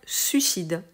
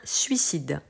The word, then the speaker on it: suicide: Vous risquez d'entendre souvent des gens dire suicide sans prononcer le premier i. C'est une erreur, on doit le prononcer. Il est léger, il ne s'entend pas forcément, mais il est là et il faut le prononcer. Donc on dira un suicide.